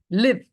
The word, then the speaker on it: live: Then live, as a verb, rhymes with give.